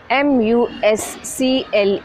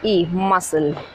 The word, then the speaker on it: muscle: M-U-S-C-L-E, muscle. The C is silent, muscle.